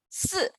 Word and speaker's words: si: Not C, C is XI, C is XI, always remember that. SI is 四, XI is C.